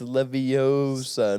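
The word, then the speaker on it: Leviosa: big Harry Potter guy saying it wrong it's levosa not that matches all right can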